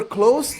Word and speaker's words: close: That means we are close. That means we're close to each other. Close. Like this. But when I talk about the door, I always close the door. The same word, but different pronunciation.